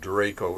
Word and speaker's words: DRACO: Yeah, yeah, I would have spelled Draco it the dragon. Draco the Dragon. I would have spelled it Drakko, but then it wouldn't fit the acronym. But anyway, But that's how it's pronounced.